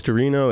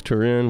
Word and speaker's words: Turin: explain that to me it's Torino its Turin what's the Torino is the Italian name Turin it's an English name